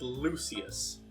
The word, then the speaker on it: Lucius: It's pronounced Lucius. Lucius Artorius Castus. I'm going by how the anime pronounced it. You're going by it wrong.